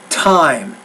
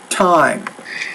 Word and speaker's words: time: next license okay now when you say time the tea you want to pronounce that with a little more air so it's time time that is only not